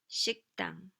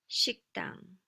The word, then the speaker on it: 식당: Once again, this 그 sound in the previous syllable moves over here and makes the following consonant stronger, more tense. 식당, 식당.